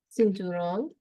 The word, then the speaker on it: cinturón: A belt, cinturón. Accent on the O in cinturón.